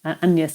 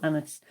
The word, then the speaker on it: Agnes: And he refers to her as my daughter Agnes, or it would have been pronounced close to the French, Agnès or Anis.